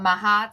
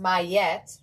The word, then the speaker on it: Ma'at: Let's see what Mahat has for you. I feel like I have to stand up. I feel like I've been sitting for so long. Oof. Okay. Mahat, pronounced Mayet, all right, my bad, is an ancient Egyptian